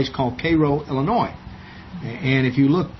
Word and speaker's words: Cairo: things come down, but in Egypt it's Cairo, but in Illinois it's Cairo. Spelled the same though. If you go there and if you ask directions to Cairo, Illinois, they know you ain't from around there.